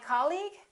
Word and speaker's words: colleague: did you say colleague or colleague he's my colleague that's right once again it's the first syllable repeat after me colleague colleague he's my